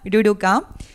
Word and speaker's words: ruruka: preguntado esa pregunta bueno se pronuncia ruruka y es una palabra que viene del guaraní Este es un proyecto